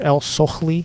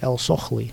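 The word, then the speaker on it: ElSohly: Mr. El-Sohli, I think that's how you pronounce his name. Last name is E-L-S-O-H-L-Y, El-Sohli, I believe.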